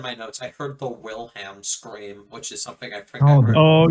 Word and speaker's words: Wilhelm: do it well the Willems scream you can't do that well I said The Wilhelm scream and say anything about um I think he mispronounced it but I will Helm